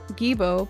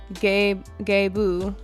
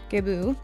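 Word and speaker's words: Gebo: Gibo, pronounced Gebu. Okay, sorry, I'm saying it wrong. Gebu.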